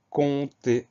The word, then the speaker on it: compter: C'est un P muet, un P qu'on n'entend pas, mais il est bien présent.